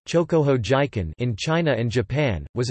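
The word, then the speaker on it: 張鼓峰事件: Incident, Chinese, Zhonggufeng Shijian, Pinyin, Zhonggufeng Shijian, Japanese pronunciation, Chokoho Jiken, in China and Japan, was an attempted military incursion from Manchukuo by the Japanese into territory claimed by the Soviet Union.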